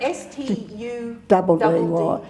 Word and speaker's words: Studdy: Now, the very word study was a very interesting one for Canberrans. He made him highbrow before we started. So, and you spell that S-T-U-D-D-Y. But it was just Studdy.